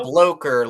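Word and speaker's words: Blocher: you've ever seen and is it the blocker or bloucher how did is it pronounced do you know Loker like uh like poker okay so the bloker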